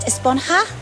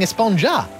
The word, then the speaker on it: Esponja: And that's what this whole Esponja Grande thing has been about, huh? Actually, it's pronounced Esponja with an H sound at the end. Really? But we've all been saying Esponja.